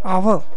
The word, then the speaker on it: hour: an ear similarly an hour here H is silent hence a vvel sound